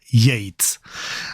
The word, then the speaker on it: Yeats: Y esto, ¿cómo se pronuncia? Y esto yit yat y hm pues hemos buscado eh en ese canal de pronunciación de YouTube que es enriquecedor absolutamente y bueno, es William Butler Yates, así que así lo vamos a a llamar.